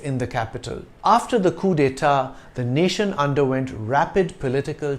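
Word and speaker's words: coups d'état: So it's C-O-U-P-S, but it's still pronounced coup. The S is silent, coup d'état.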